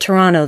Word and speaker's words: Toronto: it was probably Toronto apparently they say at Toronto there so yeah they don't pronounce ii t we're in utah we